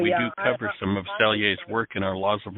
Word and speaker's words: Selye: Hans Seeley was brought up. I think you mentioned Hans Seeley. Selye. And Selye, thank you. I never knew how to pronounce that.